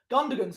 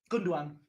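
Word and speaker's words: Gündoğan: coming on for though gundogan's coming off or gunduan gunduan that's how you pronounce it he's coming off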